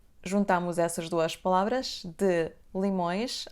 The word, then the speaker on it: de limões: connecting these two words: /d' limõjʃ/ the letter "E" in the word "de" will be dropped, and we pronounce /d' limõjʃ/, /d' limõjʃ, /d' limõjʃ, /d ' limõjʃ, /d' limõjʃ/. It won't be /delimõjʃ/ or even less /delimõeʃ/.